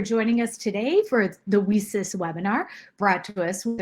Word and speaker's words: WiCyS: We often go by our acronym WeSys, W-I-C-Y-S, and we pronounce it WeSys, like we sisters, because that's exactly who we are.